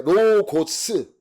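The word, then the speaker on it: λόγος: 고스. 이 오자 발음이 나는 거예요. 로고스, S자 발음 나는 거, 로고스.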